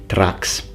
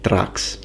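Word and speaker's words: Thraex: i say saturation which in latin would be pronounced a trax that would be the pronunciation tracks at least for early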